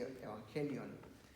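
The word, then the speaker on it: εὐαγγέλιον: El Evangelio, la palabra Evangelio, es en realidad una palabra en griego que se pronuncia justamente así, Evangelion, y significa buenas nuevas.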